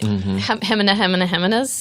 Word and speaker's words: Jimenez: well, if you have to say it like the correct pronunciation of Jimenez. Right. Heminas?